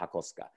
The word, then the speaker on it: Hakosuka: Hako, square, ska, is an abbreviation of skyline. So a square body skyline becomes a Hakosuka. And yes, that's how it's pronounced, Hakosuka.